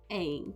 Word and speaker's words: Eng: Eng. No, not like Aang, like from Avatar: The Last Airbender.